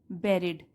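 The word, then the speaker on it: buried: तो एक माइजर या कंजूस व्यक्ति ने हैड बेरिड, हैड के साथ वर्ब की अगर थर्ड फॉर्म लगी हो वो सेंटेंस होता है पास्ट परफेक्ट टेंस में। इसको ऐसे प्रोनाउंस करते हैं बेरी।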